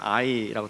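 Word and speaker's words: 아이: 요새는 AI가 하도 많이 회자가 돼가지고 AI로 읽고 싶은 충동이 있는데 성경에서는 I라고 되어 있습니다.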